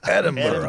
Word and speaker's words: Edinburgh: It's got that Scottish extra, like Edinburgh. stuck in your throat.